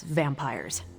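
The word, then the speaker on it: vampyres: vampires with a Y pronounced exactly the same as vampires I suppose that was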